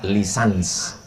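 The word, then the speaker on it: licence: LC itu singkatan dari licenc tulisannya licen C. Cara membacanya lisans. Kalau di Malaysia lesen.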